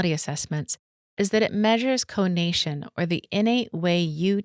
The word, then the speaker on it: conation: What makes the Kolbe ATM different from assessments is that it measures conation or the innate way you take action. Conation (yes, that’s how it’s pronounced) is the formal term for the striving or volitional instinct.